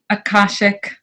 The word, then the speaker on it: Akashic: hear you say it again what is the pronunciation for it Akashic records Akashic records ok so now is there